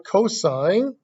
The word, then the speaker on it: cosine: see toss cos but it stands for cosine spelled with an e on the end said just like a stop sign with a COS in front cosine the cosine ratio as